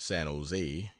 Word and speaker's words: San Jose: down to San Jose generally pronounced San Jose emphasis on last Sila today 50 mi from